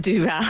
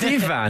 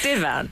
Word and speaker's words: divan: And I pronounce it duvan. Duvan. It's divan, though, Yeah, isn't it? it's divan.